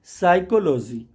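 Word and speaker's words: psychology: directly बोल ते हैं साइकोलॉजी साइकोलॉजी मींस मनोविज्ञान होता है और यह पीएस के कॉमिनेशन को टच करता है इसलिए इसमें पी के बाद एस लेटर जो है वह साइलेंट है सॉरी एस से पहले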